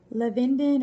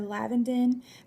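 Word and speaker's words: lavandin: is purifying and antibacterial there's lavenden or lavendin and i've heard it pronounced both ways but it's antifungal antibacterial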